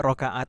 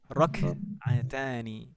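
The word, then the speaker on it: ركعتان: dulu sejak kecil bilangnya rokaat, dan kita di bahasa Indonesia kita juga istilahnya rokaat gitu ya. Rokaat. Tapi kalau bahasa Arab kafnya itu sukun. Jadi di sini bacanya sholatul fajri rok'atani.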